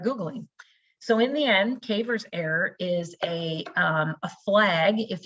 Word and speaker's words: CAIVRS: And they come up with something called a Cavers error, and it's spelled Caivrs, Cavers.